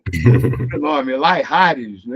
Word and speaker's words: Layrargues: Felipe, desculpa se eu errar a Não tem pronúncia do sobrenome, Laihares, não é isso?